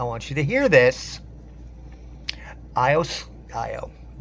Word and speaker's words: Iyo: IO IO. One of these days I'm going to remember it's IO. As much as I love her, I always pronounce her name wrong.